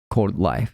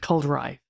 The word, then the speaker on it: coldrife: Cold life. Cold rife. It's hard to say though. Cold life. Rife. Life. Rife. Cold rife. Right. Yeah, that's better. Rife は R か。 Right. R, not an L.